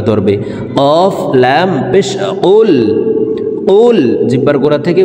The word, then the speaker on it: قل: আমরা অনেকে এই কফ হরফের উচ্চারণ কাফের উচ্চারণ করে থাকি, কুল কুল এভাবে পড়ে থাকি। প্রিয় দর্শক, কফ হরফের উচ্চারণ জিব্বার গোড়া তার বরাবর উপরের তালুর সঙ্গে লাগাইয়া উচ্চারণ করতে হবে।